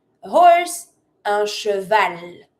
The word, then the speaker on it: cheval: Un cheval. You do pronounce the L.